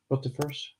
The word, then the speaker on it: rotifers: But in those other cases, there's basically been live rotifiers. That's how you say it, right? Rotifers. Yeah, but because Mudskipper fry, they are basically planktonic, right?